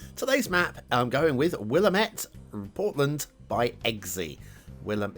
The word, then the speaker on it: Willamette: and apparently it's got a river called the willamette hopefully got that pronunciation right it's probably willametti or something but i'm going with willamette and i'm going to stick with that throughout today's show uh